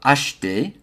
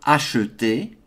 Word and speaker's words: acheter: I'm going to pronounce that as acheter rather than acheter.